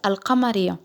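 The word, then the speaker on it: القمرية: Alors, les lettres lunaires se disent en arabe al-huruf al-qamariya, qui se traduit littéralement par les lettres lunaires. Vous entendez bien que l'em se prononce à voix haute.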